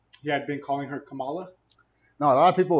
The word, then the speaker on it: Kamala: pick name yeah how her name is uh camila harris you're racist what how do you say her name her name is kamala harris kamala you see what they're pushing